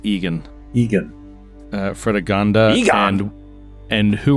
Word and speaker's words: Eogan: Sir Egan, Eogan, pronounced Egan.